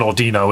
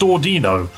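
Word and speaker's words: Audino: That's an ordino, isn't it? Do you know what staff? I've just realized it's not pronounced Ordino. It's pronounced Ordino. because it's supposed to be similar to audio.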